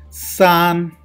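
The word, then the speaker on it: 三: Sun, sun, sun, there is first tone. So we need to pronounce like this. Sun, sun means 3.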